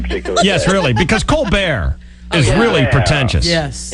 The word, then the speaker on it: Colbert: It's not Stephen Colbert. It's Stephen Colbert. It's Stephen Colbert if you ask my mother, but it's Stephen Colbert if you ask my agent.